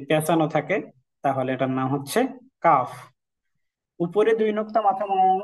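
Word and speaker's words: ح: আমরা এটা হচ্ছে সেই হা এই হাটার উচ্চারণ স্বাভাবিকভাবে আমরা যেভাবে হা বলি হা করলে এটার উচ্চারণ হয়ে যাচ্ছে কিন্তু শুরুতে আমরা যে বড় হা টা দেখছিলাম এটার উচ্চারণটা একটু হলকের মধ্যখান থেকে হবে এটার উচ্চারণ হবে হা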